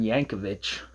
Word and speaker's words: Jacovich: And so, I did some digging, and turns out, and it's pronounced, as I learned, uh it's a Milan Yancovich mystery that takes place in Cleveland, which is where I live, just about.